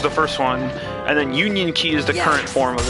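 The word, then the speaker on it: Union χ: Yeah, but by the way, for anyone else reading in the chat, that X, it's pronounced Union Key.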